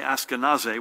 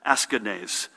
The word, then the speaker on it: Askanase: remember west orange's melvin i was going to say askanase which is the pronunciation i'm used to but a family member correct me askanese melvin askiness who was